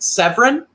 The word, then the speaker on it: Severn: It's pronounced Severin, but it's Dan to be Severin.